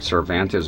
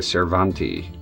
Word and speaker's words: Cervantes: It says something different like Cervantes. They say Cervanti. Don't know what that is. I think it's some kind of mistake.